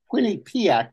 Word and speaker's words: Quinnipiac: Quinnipiac University in Connecticut.